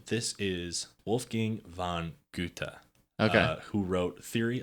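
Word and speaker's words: Goethe: do you spell that Guta uhhuh g o e t h e mhm gut GAA that's the uh there's a street in shago everyone pronounces it ghost oh that's I haven't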